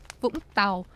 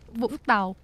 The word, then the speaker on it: Vũng Tàu: It's called Vũng Tàu. It's a coastal. Is that how you say it? Vũng Tàu.